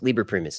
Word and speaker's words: Liber Primus: Liber Primus is correct.